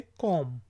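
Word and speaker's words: comb: कंघी को हम कहेंगे कॉम, कॉम your hair, कॉम your hair, कॉम your hair. तो यहाँ पे जो बी है वो साइलेंट है, यानी कि उसकी आवाज़ नहीं निकलेगी। यह है कॉम, कॉम योर हेयर।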